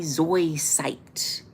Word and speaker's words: zoisite: Ruby zoisite. Ruby zoisite. It's a Z.